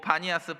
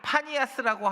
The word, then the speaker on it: 바니아스: 근데 바니아스 폭포 여러분들 이스라엘 성술레 가면 가이사라 빌립보 바니아스 폭포 그리고 이제 판신전 이렇게 가는데 왜 바니 파니아스라고 하지 않고 왜 바니아스 폭포라고 하는지 아세요? 얘네들이 피발음이 안 돼.